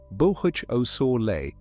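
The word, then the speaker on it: Boösaule Montes: The name is pronounced roughly Bohuch Osor, and the feature is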